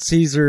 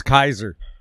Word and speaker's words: Caesar: to pronounce this yes it's not Caesar it's Kaiser yeah yeah us durable good